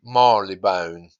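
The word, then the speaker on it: Marylebone: that area of London which is called Mari lebone you often hear people saying Mar Le bound to avoid the AR completely so yeah you hear different pronunciations British people we really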